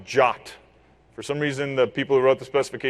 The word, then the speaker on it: JWT: to to at the the first line of the specification say that it's pronounced jot and not jwat or something like that